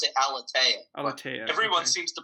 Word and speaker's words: Aleteia: I pronounce it Aleteia.